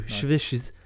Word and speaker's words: Chvrches: So the other one is Chvrches, but obviously spelled with a V, not a U. Chvrches. And from their newest album,